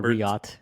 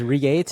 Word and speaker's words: Reate: how to pronounce it I thought it was reate and you thought it was Reit it turns out it's Riot um I think I've I've checked like four different types of pronunciations and we're just gonna go with Riot okayi so the riot